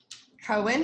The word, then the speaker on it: koan: and building that muscle cohen is spelled k-o-a-n great question i'm looking